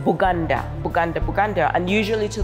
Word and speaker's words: Buganda: midst of this land, because they could not pronounce B, they always said Buganda, Buganda, Buganda, and usually